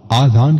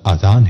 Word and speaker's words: اذان: لوگ آذان کہتے ہیں، یہ غلط تلفظ ہے۔ آذان جمع ہے اذن کی اور اذن کے معنی ہے کان۔ درست تلفظ اذان ہے۔ اذان کے لغوی معنی